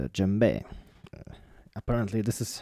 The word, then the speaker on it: djembe: of you probably are familiar with and it's jumbe apparently this is how to say it properly